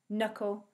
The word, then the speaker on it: knuckle: The K becomes a silent letter if it comes before an N. That's the rule for the silent K. That means we can't hear the letter K when we say the word.